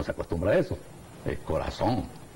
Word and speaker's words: corazón: Yo no llego a decir corazón, como lo dicen los españoles. Pero en Hispanoamérica no se acostumbra a eso, es corazón. Se escribe con Z y se pronuncia con S.